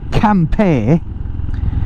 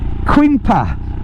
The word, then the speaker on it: Quimper: what it is um now it's although it's pronounced campe it's actually spelled quu i m p e r which is you know we English pronounce it quimper I did for years oh yeah we're just